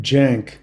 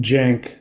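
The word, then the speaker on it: Cenk: Grounded came after I worked with his name's he pronounced his name Jank. Yeah. Like Jack, but Jank.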